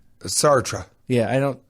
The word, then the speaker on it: Sartre: No, I think it's Sarte. That's the writer, right? Sartre. Yeah, I don't pronounce it correctly.